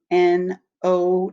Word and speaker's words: know: is to understand and that k is silent k n o w so o w says o in this word no k n o w